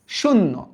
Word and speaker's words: শূন্য: শূন্য, নর্মালি উচ্চারণ করো, শূন্য। তাহলে কিভাবে উচ্চারণ করব আমরা? এই যে দেখো, শুন, তারপরে উচ্চারণ করব নো, শূন্য।